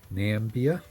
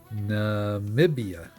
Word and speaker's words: Namibia: Nambia. No. Namibia. That's how you say it.